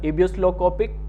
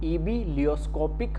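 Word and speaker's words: ebullioscopic: देखने को मिल जाएगा, एबियोस्लोकोपिक कांस्टेंट। ठीक है, थोड़ा सा प्रोनाउंस करने में अजीब सा लगता है, ठीक है, एबियोलियोस्कोपिक कांस्टेंट, ठीक है, अब सही बोला है, एबिलियोस्कोपिक कांस्टेंट।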